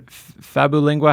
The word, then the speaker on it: Fabulingua: yeah so search on fabu lingua how do we spell that sure sure sure search babbling WA is f as in Frank fabu like fabulous and then lingua lingua like Li ng you